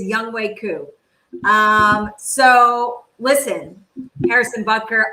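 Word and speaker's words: Younghoe Koo: harrison booker or atlanta's young hoku young way oh young way wow i'm so sorry well you said it how it's spelled but it was young way coo um so listen harrison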